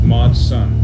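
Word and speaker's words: MOD SUN: best friend matsun i love him in l.a mod son oh mod son yeah how do you spell that uh mod m-o-d-s-u-n yes mod son yeah yeah okay i don't know why i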